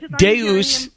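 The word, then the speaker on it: Deus te amat: no you're saying oh deus tiamat i understand what you're saying now i understand um pronunciation yeah yeah deuce deuce latin for god tay meaning you ahmat love oh okay because i'm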